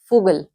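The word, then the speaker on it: Vogel: हमारी बर्ड होती है इसको फगल अ स्पेलिंग आप देख रहे हैं इस तरह से ी से आपको पता है मैंने बता चुकी हूं कि एफ साउंड आती है यवी से शुरू हो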